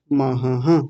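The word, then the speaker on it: पितामहः: लिया आपने आगे देखिए पिता महाहः मैं बार-बार बोल रहा हूं आप लोग इस विसर्ग को छोड़ जाते हैं महाहः ऐसा बोलिए महा हां जी बहुत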